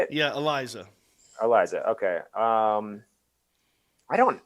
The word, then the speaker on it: Eliza: it eliza that's how you say it yeah eliza eliza okay um i don't i'm not that